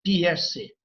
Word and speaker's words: Peirce: Se escreve P-I-E-R-C-E, Peirce.